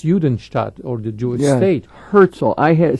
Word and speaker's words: Herzl: Herzl. I had said the name wrong. Franz Rosenzweig was cooperated with Buber on the writing of the translating of the scriptures into. It's Theodor Herzl who wrote the Judenstaat, the Jewish state, due